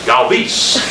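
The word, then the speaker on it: Galvís: Freddie, "How do you want your name pronounced?" He goes, "Galvis."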